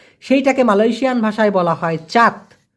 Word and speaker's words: cat: Malaysian ভাষায় বলা হয় চাত। দেখেন ইংলিশের ক্যাটের মতো, CAT, ক্যাট আমরা সারা জীবন পড়ে আসছি, মালয়েশিয়াতে এসে সেটা হয়ে গেছে চাত, কারণ সিকে মালয়েশিয়ান ভাষায় চয়ের মতো উচ্চারণ করে।